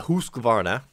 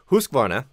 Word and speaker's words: Husqvarna: And what I chose, because I think it's such a wonderful value, you get so much for the money, is the Husqvarna. I always pronounce that wrong.